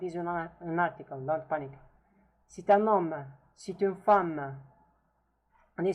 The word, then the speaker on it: C'est un homme: Now you see that the T here is pronounced because it's forwarded by U, which is a vowel, and there is kind of lesion between them. C'est un homme. Actually, lesion is for the three words. C'est un homme. It's like pronounced as a, we hear it as if it is one word.